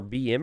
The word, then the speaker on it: Beamer: Beamer Ken will say this is not how you say my name is apparently not Beamer it's like bimer or Bimmer or I don't know Beamer